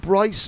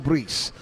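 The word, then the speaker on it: Brice: I spoke to him said, "Is it Bryce or Breece?" And he said, "Right, in English people say Bryce, but in French it's Breece."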